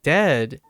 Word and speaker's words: dead: sounds like bird and dead is said is said like bed and not bead and goodness sake don't